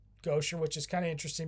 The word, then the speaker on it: Gauthier: It's pronounced Gauthier which is kind of interesting because Dave Gauthier,